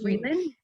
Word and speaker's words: Frelin: I didn't ask you how to pronounce it. Mhm. Freeland? Frelin, Frelin.